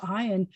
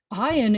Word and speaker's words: Ayin: So if the name is Ayin, you're going to say that the consonant starts with a sound of ah, and that would be very embarrassing. Please don't ever say that, because ah is a vowel sound.